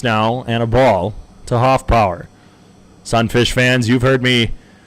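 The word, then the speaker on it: Hoffpauir: And Hoffpower, not spelt the way you think it would. P-A-U-I-R at the end of it. Still pronounced power as in P-O-W-E-R.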